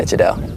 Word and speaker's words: Jadale: Yeah, Jadale.